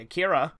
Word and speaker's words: Akira: For instance, those same people never questions the way I say Akira. Technically, Akira has the same issue with pronunciation.